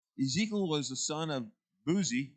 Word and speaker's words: Buzi: was the son of buzi or buzzy and i pronounced that b-u-z-i and he was a